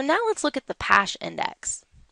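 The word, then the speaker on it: Paasche: So now let's look at the PASH index. And I have it spelled out phonetically for you here because this is difficult for us to say. We aren't French after all.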